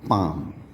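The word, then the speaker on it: palm: इसी तरह से ए एल के साथ में अगर एम लगा होता है तो भी आपका एल साइलेंट हो जाता है, जैसे कि पाम, पी ए एल एम।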